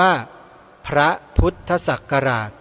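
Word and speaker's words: พ.ศ.: เนี้ย ก็ คือ ว่า การ อ่าน อักษร ย่อ พ พาล จุด ส ศาลา จุด หรือ พศ คำ เต็ม เรา ต้อง อ อ่าน ว่า พระ พุทธศักราช เป็น การ แสดง ความ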